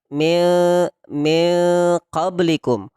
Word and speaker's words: min qablikum: Kesalahan kita, pemahaman kita selama ini NG. Jadi tidak ada NG. Min qablikum, tidak juga. Min qablikum. Meskipun itu memang cenderung NG, tapi bukan ND.